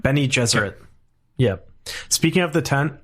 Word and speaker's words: Bene Gesserit: Bene Gesserit.